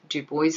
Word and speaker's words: Du Bois: w e boy b du bois i think is the way his name is pronounced was a pioneer in